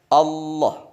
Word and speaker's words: Allah: Tidak ada kata yang diucapkan seperti kata ini. Allah. Menggunakan lam tafkhim, lam yang tebal.